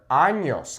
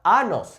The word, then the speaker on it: años: Be careful with the pronunciation of this word, años, okay? It is not anos, it's años. If you say anos, you're saying anuses, which I'm pretty sure is not what you want to say.